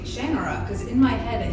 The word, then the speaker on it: Shannara: It is Shannara. You cannot desecrate this series by pronouncing it the wrong way.